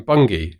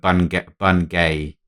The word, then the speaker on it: Bungay: Actually, non-Americans, non-English people, it looks like Bungay, but it's actually pronounced Bungay.